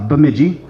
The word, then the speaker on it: Bemidji: Rita Mayor Rita Albrecht and Tiffany Fettig from Bemidji okay that's the correct pronunciation by the way and they're gonna talk